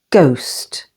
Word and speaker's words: ghost: the second syllable exhale H is always silent after G for example ghastly ghost and ghetto with the